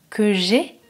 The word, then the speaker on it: que j'aie: Ensuite, le verbe avoir, que j'ai, que tu aies, qu'il ait, que nous ayons, que vous ayez, qu'ils aient. Attention, la différence entre le verbe avoir et le verbe aller, la prononciation est différente.